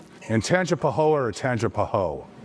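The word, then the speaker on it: Tangipahoa: In Tanga Pahoa or Tanga Paho? Tangapoa. Okay. Just make sure I'm pronouncing that right.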